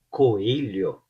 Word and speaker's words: coelho: Por exemplo, palavras com a letra L e H, É um pouco difícil a princípio para o estrangeiro pronunciar. Coelho, coelho, lho, lho.